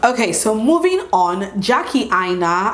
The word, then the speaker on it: Aina: I keep calling her Jackie Aina because I feel like that's the actual pronunciation of her surname, not Aina, or the way you guys pronounce it is Jackie Aina. If it's a proper Yoruba name, I know that that's how it's pronounced.